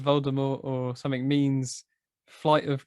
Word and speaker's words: Voldemort: Yeah, because I think you're supposed to pronounce Voldemort like Voldemort. Voldemort. To the T.